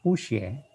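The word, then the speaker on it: 不谢: Nah, kalau tulisan puxie ya tetap ini nada keempat, puxie.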